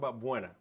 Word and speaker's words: Buona: So people call it all different things, but yeah, it's just pronounced Buona now.